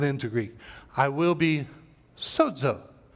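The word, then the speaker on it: σῴζω: I will be sozo. Not so-so. I will be sozo is how you pronounce that.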